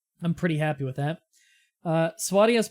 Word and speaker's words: Swadia: Swadia is pronounced Swadia, generally.